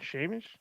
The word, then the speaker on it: Seamus: Yeah, Seamus.